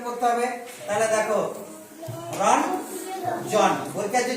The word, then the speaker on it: রঞ্জন: আমি প্রথমে বলেছিলাম যে এটা দন্তনের মতো উচ্চারণ করতে হবে। তাহলে দেখো, রঞ্জন, বৈকার্য যা ছিল তাই থাকবে, রঞ্জন, রঞ্জন।